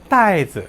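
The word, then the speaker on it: 袋子: 잠깐 거기에 앞서서 주머니라고 하는 낱말 어떻게 발음하죠? 주머니를 袋子 라고 합니다.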